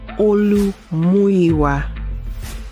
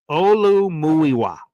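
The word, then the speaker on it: Olumuyiwa: This is how you're supposed to pronounce Olu Fashu's name. His full name is Olu Muiwa Fashanu. And Olu Muiwa means the Lord has brought us this. Olu Muiwa is how we pronounce it.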